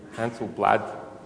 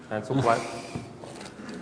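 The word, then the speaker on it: Handelsblad: Right here, earlier this year, in the Netherlands, this is the front page of NRC Hansel-Blad. Is my pronunciation correct? No. Hansel-Blad.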